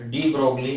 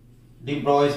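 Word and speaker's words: de Broglie: डी ब्रोगली hypothesis, hypothesis, डी ब्रोइस भी बोला जाता है इनको, डी ब्रोइस, इसको बोला जाता है क्या, डी ब्रोए, डी ब्रोइस, ऐसे प्रोनाउंस इस तरह से भी किया जाता है।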